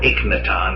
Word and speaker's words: Akhenaten: finally a little bit with Akhenaten or 8-minute on as some people say with a hold of